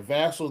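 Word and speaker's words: Vassell: Vassal.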